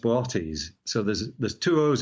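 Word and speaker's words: Boötes: it's actually it's a funny word it's usually pronounced botis so there's there's two o's in it uh it looks like boties but it's bities the second o has a numb out over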